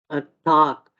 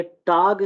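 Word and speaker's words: Tag: ये for instance टाक, ये टाग नहीं होगा, टाक, ठीक है, टाइक, सुक, ठीक है।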